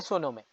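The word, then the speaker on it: sim: করবে দেখাবে কোথায় যাবে ইয়েস কে তারা বলে সি এস আই এম উচ্চারণ সি বাংলায় হাইতু অভ্রিগাদু অনেক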